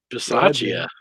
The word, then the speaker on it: Bisaccia: yeah, and pronounce the guy that took over for the Raiders head coaching job there. Bisaccia.